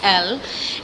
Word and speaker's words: ELLE: So the name of the company is L. It's spelled ELLE, but it's pronounced L.